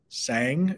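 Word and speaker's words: Saeng: going to mess up I did look up the pronunciation of uh of the main character's name sang is how you say it but let's um talk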